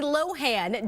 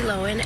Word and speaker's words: Lohan: Hey everyone, it's Lindsay Lohan, and guess what? Now I'm on TikTok. Hey. Oh, hey. She places the emphasis on the first syllable. Stressing the O instead of the A. So Lohan instead of Lohan.